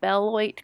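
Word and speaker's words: Beloit: site at the lake delavan was overseen by bellwhite college i believe i'm saying it right b-e-l-o-i-t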